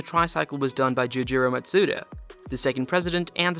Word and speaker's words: Matsuda: founder of the company matsuda which is pronounced very close to mazda other than the name